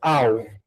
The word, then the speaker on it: I'll: A, a pronúncia é au, tipo um cachorro latino.